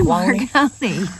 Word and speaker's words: Marconi: Why can I not say Marconi? Marconi. Marconi. Say it as two syllables.